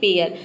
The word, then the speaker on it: pair: आ जाए तो ए आई को हम ए प्रोनाउंस करते हैं जैसे कि पेयर पेयर में आप देख सकते हैं कि ए